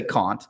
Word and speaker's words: Kant: secondary literature on kant i should say kant let's use the british pronunciation here expanding that out